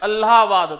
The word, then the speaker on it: इलाहाबाद: हालांकि आप लोग इसको इलाहाबाद बोलते थे, बट ये प्रॉपर जो प्रोनाउंसिएशन था वो ALLAH इलाहाबाद था।